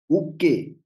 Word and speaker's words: Ukey: how do you pronounce the last word? Ukey? Sir, okay. Ukey.